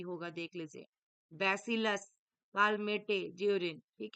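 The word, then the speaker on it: Calmette-Guérin: है इसमें dear bacillus कालमे जरिन राइट आंसर किसम होगा डियर ऑप्शन बी होगा देख लीजिए बेसिलस कालमे जरिन ठीक है बेसिलस कालमे गूरिन ऐसा पढ़ाता है डियर ये तो आपको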